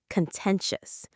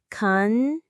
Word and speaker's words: contentious: Contentious. Let's pronounce it. Contentious. Contentious. Stress on the second syllable.